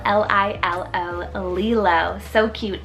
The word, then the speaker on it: Lilo: Then for another Hawaiian favorite is Lilo, spelled L-I-L-O, Lilo.